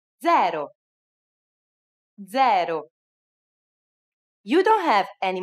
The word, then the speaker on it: zero: uno do you know it's the same as in english but with a different pronunciation zero zero you don't have